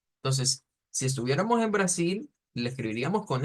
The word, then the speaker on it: Brasil: Algo así como Brasil, Brasil, Brasil, un poquito prolongado.